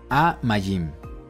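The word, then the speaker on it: מים: parte de abajo no notemos que es pataj y pataj por lo tanto la palabra es aim Que traduce las aguas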